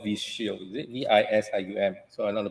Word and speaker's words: Visium: Okay, I'm not from the field, but this called Visual, is it? Is this the data set you get from is actually called Visual, is it? VISIUM.